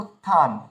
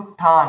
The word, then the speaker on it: উত্থান: তো এমন দেখবেন যেখানে উত্থান এমন আমরা লেখা থাকে, ওখানে কিন্তু ওই তয় থ থাকে, তো ওখানে উচ্চারণ হবে উত্থান, কিন্তু আমরা বলি উত্থান, অনেকে বলে ফেলি ভুল করে।